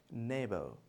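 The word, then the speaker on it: neighbour: इसमें भी जी साइलेंट है और नेबर नहीं, that is called नेबर, नेबर। ने नहीं, ने, नेबर।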